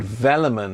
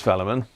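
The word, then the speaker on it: Velleman: think we ought to have have the keyword vellon in that don't you just just to give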